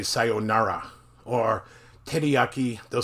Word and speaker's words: teriyaki: Or teriyaki, they'll say teriyaki.